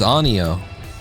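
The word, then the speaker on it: 아니요: To say no is 3 goddamn syllables. 3 is no is anyo.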